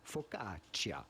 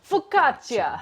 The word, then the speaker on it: focaccia: it in italy itself focaccia focaccia because there is a double c there it is focaccia that settles it hey